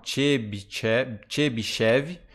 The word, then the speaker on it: Chebyshev: Então é o jeito que se pronuncia mesmo, ó, Chebyshev, ou em inglês eles colocam assim, vocês vão encontrar essas duas formas.